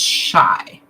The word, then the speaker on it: Shy: Sorry, I have to read Pronounced shy.